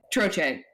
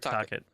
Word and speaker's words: Tocchet: Troche is the new coach. No. And it's like, guys. Rick Tocchet.